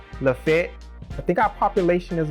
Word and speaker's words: Lafayette: pronounce it lafayette but we know you're from alabama if you pronounce it la fete i think our population